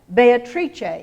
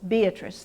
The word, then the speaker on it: Beatrice: using with us today Beatrice in Italian four syllables Beatrice three in English Comedia four syllables in